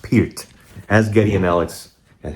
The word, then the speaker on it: Peart: Neil Peart himself, and it's pronounced Peart pronounced Peart, not Pert like other idiots in on the internet. It's pronounced Peart.